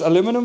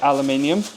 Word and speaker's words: aluminium: some tin full uh I think American call this aluminum foil which is stupid because it's pronounced aluminium I don't know why